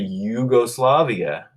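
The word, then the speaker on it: Jugoslavia: year sometimes the country Yugoslavia you'll see spelled with J but pronounced like a Y and that goes back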